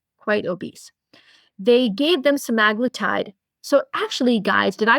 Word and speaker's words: semaglutide: They gave them semaglutide. So actually, guys, did I pronounce that correctly?